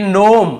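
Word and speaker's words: gnome: है यहां पर देखिए नोम यहां पर जी लिखा हुआ है सामने लेकिन हमें केवल इसे नोम पढ़ना है जी को नहीं पढ़ना है यह आपका जी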